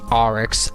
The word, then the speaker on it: Oryx: sorry if I keeping us in the word name wrong its Oryx oh I understand sparks as our extended sisters